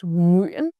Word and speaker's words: Nguyễn: glide vowel uyên, and the nasal ending n, and the special Northern ngã tone with a glottal stop and raising pitch. Practice slowly in front of a mirror, then increase your speed. Soon you pronounce Nguyễn like a native.